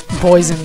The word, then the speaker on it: Boison: Boison spelled like poison, but with a B.